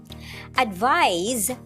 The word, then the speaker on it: advise: Advise is pronounced as advise. The S there has the Z sound.